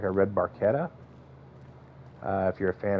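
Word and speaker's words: Barchetta: looks like a red Barquetta. Uh if you're a fan of Rush, uh you'll know that they have a song called Red Barcetta where they mispronounce it, but it sounds cooler.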